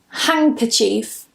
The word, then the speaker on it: handkerchief: For example, handkerchief. Handkerachief. So here I'm not pronouncing the N as a N, but I'm pronouncing it as a N because we're anticipating that C sound.